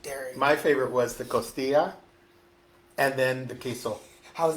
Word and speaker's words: costilla: My favorite was the costilla, and then the queso. How's that? Costilla? Costilla? Costilla? I gotta move your mouth like Costilla. That's good. Actually, you are saying it right.